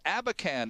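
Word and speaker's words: Abakhan: our guest is Brett lucken vice president with abacan and associates they are proposal administrators and trustees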